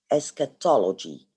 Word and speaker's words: eschatology: Eschatology, this is how you pronounce it. eschatology, and I have highlighted this in yellow, meaning it's writing about the end of the world.